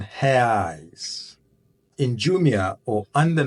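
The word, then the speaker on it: reais: the price of 7,460 res or in the right pronunciation ha in jumia or on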